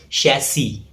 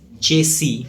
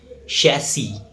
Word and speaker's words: chassis: Its correct pronunciation is chassis. It's often mispronounced as chassis or chasis, but the correct pronunciation is chassis.